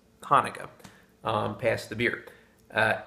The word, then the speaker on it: Hanukkah: pronounce this is hebrew hanukkah chanukah even though both spellings are pronounced hanukkah um past the beer